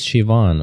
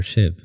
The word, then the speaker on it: Shiv: Shiv, by the way, your name is Shivan or Shiv? No, just Shiv. Just Shiv. My parents couldn't be bothered to give me more than one syllable as a first name.